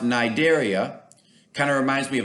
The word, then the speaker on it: cnidaria: sponges the nigeria cnidaria it has a c but it's pronounced nidaria kind of reminds me